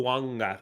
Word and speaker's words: Fuaga: I think it's technically Fuanga. I've learned this because everyone's like snipe me every time I say his name right or wrong because there's like a silent N there somewhere.